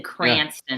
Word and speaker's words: Cranston: Just south of Providence in Cranston. Yeah. Cranston is how you say it. I'm sure that's how all the Rhode Islanders say it. I had to practice. Cranston. It's Cranston. They did. They said Cranston.